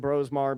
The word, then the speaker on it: Brosmer: Again, you forget about Max Brosmar, and I'm saying Brosmar because that's how it's spelled, who pushed JJ last year for the starting job.